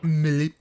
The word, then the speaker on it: Melee: Weird all the different pronunciations back when it was Super Smash Bros. Melee. Normally just say French words as they sound in French. Melee.